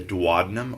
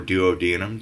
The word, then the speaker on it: duodenum: is the pyloric sphincter the duodenum or duodenum depending on how you want to pronounce that this little area right